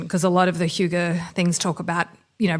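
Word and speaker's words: hygge: 2017 I believe it's called Huga it's spelled h y g g e it's a Danish concept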